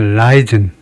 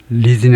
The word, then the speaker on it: Leiden: 영어식 미국식에서 라이든, 리든이 아니고 라이든이라고 발음하면 되겠네요. 라이든. 첫 음절에 액센트를 두고 두 번째는 약하게라는 말은 거의 모음 소리가 안 들릴 정도로 약하게, 무지무지하게 약하게 대원칙입니다.